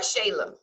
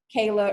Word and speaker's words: Shayla: All right, Shayla. Did I pronounce that right? Yeah, you are. You're actually the first person to actually pronounce it right, because a lot of times people call it Kayla or something.